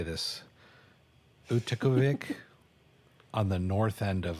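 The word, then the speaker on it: Utqiaġvik: So the Alaska Triangle goes from Juneau, Alaska to Anchorage, and then it goes north to, I learned how to say this, Utikavik on the north end of Alaska.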